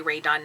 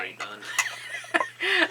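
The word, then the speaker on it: Rae Dunn: simplistic, and it's basically Ray Dunn knockoff packaging, which I knew you'd recognize right Who's away. Ray Dunn? Like They in your relation to Ray Gun?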